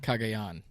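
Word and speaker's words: Cagayan: How do you pronounce that one, PD? Kagayan.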